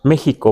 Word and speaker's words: México: es con X y pronunciamos México, ¿verdad? Con J. Este le damos un valor de J a la X, ¿verdad?